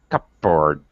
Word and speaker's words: cupboard: and board but um now we commonly don't even pronounce the p well it's very difficult if not impossible to pronounce p and b together cup bird cupboard yeah so we covered